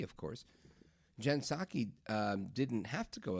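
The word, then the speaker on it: Psaki: Now Jen circle back Pasaki you remember her right Silent P of course Jen Saki um didn't have to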